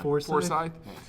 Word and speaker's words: Forsyth: Forsyth.